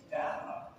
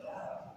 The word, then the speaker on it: Data: I said, to Gene, it's Roddenberry, is it data or data? And he said, well, there's a new rule, and that's whoever says it first.